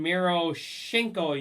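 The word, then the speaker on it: Miroshnichenko: You got Ivan Miro Shinko. You got to just pretend like you're sneezing. That's how you pronounce his name.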